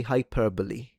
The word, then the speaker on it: hyperbole: Okay, this one I would say hyperbole, right? No exaggeration. This four-cllable word has nothing to do with the bowels thanks to its Greek roots.